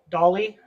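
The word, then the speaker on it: DALL-E: one of you guys know how do you pronounce this is it Dale e d e Dolly I yeah okay I I was contemplating that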